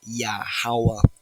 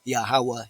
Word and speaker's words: Yahuwah: another title most high is real phonetically pronouncing it correctly name sounding it out rightly his pronoun is yahawa he is he has been he will be he exists he is existence itself yahuwah he exists yeah however